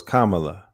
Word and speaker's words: Kamala: like comma, like Yeah, a comma. So it's Kamala. Kamala, right? Yeah. Yeah. It's Kamala.